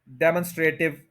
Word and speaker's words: demonstrative: अब इस मॉन को आपने स्ट्रेस दे देना, डिमॉन्स्ट्रेटिव।